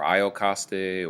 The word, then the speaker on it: Iocaste: Oedipus, the king of Thebes, Iocasta or Iocaste or Jocasta, depends on your pronunciation preference.